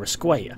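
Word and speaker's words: Escuella: fairly close friendship with javier esque apparently in the comments of my last red dead redemption 2 video that's how you pronounce javier's surname thanks and apparently according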